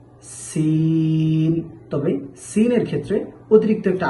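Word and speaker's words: س: জা জা তারপর আমরা শিখব সিন সিন। এই সিন জা, এই দুটি হরফ একই মাখরাজ থেকে উচ্চারিত হবে। জিহ্বার আগা সামনের নিচের দুই দাঁতের প্যাট ও আগার সাথে লাগাইয়া জা, সিন।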